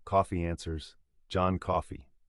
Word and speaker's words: Coffey: When Paul Edgecombe asks his name, Coffey answers, "John Coffey," like the drink, only not spelled the same.